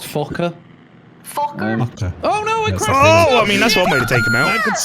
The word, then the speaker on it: Fokker: It's actually pronounced Fokker.